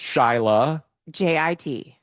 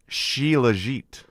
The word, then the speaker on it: Shilajit: From what I'm looking at online, I think it's pronounced Shylajit. Shilajit?